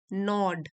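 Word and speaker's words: gnaw: नॉड नॉड एट हिम यहां पे जी silent है सो ये एक वर्ब है इसका मतलब होता है किसी को लगातार सताना ये वर्ब सेकंड फॉर्म में है नॉड जी एन ए डब्लू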